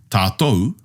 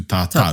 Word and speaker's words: tātou: made the decision that we would use tātou as opposed to tātau. Tātou. Aye. Yeah. Okay. And so we've made the conscious decision to use the OU sound as opposed to the AU sound.